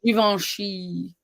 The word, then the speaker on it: Givenchy: Blanc You and would think I'm Givenchy. French, but I'm not French. I'm from DSS. So And when you say that one lipstick, Givenchy or something like that, Givenchy.